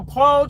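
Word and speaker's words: pule: Like a pole cheese.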